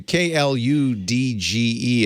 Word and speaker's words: kludge: pronounce that um i i'm not sure because i i think it's one of those words i read before i've heard anyone say it so i would have said kludge yeah but i think